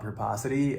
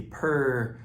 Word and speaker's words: purposity: We married purpose and generosity. Say it with me. We spelled it out super easy. Purposity.